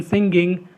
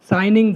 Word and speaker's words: signing: the key factors in singing signing the agreement for letting the hotel to be managed by the appellant party in this petitioner case signing is wrongly pronounced as singing